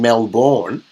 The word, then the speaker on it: Melbourne: Apparently, I live in Melbourne. So, oh really? Not that's how it's pronounced.